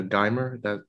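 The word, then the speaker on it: Geimer: I was thinking about how the woman, Samantha Dimer, that's how you pronounce her name, decades later, she made her separate peace with Polanski without the interference of media and the law.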